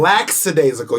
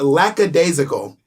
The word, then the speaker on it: lackadaisical: the knee you're silent laxadaisical you're adding an s or an x that doesn't exist it's lackadaisical i pronounce that